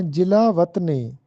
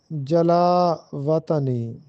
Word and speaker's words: جلا وطنی: تلفظ ہے جلا وطنی، ہم اس کو بولتے ہیں جلا وطنی۔ یہ وطن بھی نہیں ہے بلکہ وطن لفظ ہوتا ہے، اور جلا بھی نہیں ہے بلکہ یہ جلا ہوتا ہے۔ تو درست تلفظ ہے جلا وطنی۔ سوال نمبر 4 ہے،